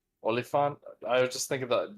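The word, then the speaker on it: Oliphant: The other thing I wanted to bring up about uh Timothy Oil, how do you pronounce his last name? Olifant. Olifant.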